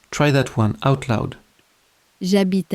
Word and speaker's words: j'habite: And in French, H says absolutely nothing, ever. It is the most reliably silent letter in the whole language.